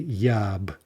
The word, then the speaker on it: я б: So to read this correctly, we need to pretend that ya and be, those first two words, I guess, are a single word phonetically, and we say yab, yab.